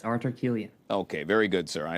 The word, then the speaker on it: Artur Kiulian: And I believe it's pronounced Artur Kiulian. Did I get that correct? Thank you for having me. Yes, Artur Kiulian.